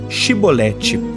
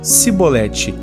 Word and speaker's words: Chibolete: um efraimita ou não os homens de Gileade diziam para os fugitivos dizerem chibolete porém os efraimitas não conseguiam pronunciar bem então diziam se bolete e assim eram degolados